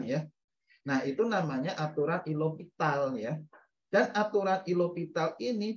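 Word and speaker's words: L'Hôpital: Baru disubstitusikan ya di hospital ya, atau hospital, bukan hospital ya, itu kebacanya aturan L'Hopital ya.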